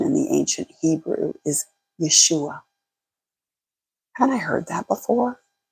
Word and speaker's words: Yeshua: Oh my goodness, the word for salvation in the ancient Hebrew is Yeshua. Hadn't I heard that before? Yeshua. That is the original pronunciation of Jesus.